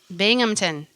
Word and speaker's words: Binghamton: Binghamton. There you go. It's spelled Binghamton.